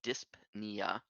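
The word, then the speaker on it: dyspnea: the technical name is disia interesting okay um spelled very similarly but the p is silent so disp niia but just don't pronounce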